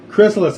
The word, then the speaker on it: Chrysalis: I am here with Yessi of Chrysalis, correct? Is that the proper way to say it? That's how everybody else says it, but I think the proper pronunciation is Chrysalis. Chrysalis, okay, right on.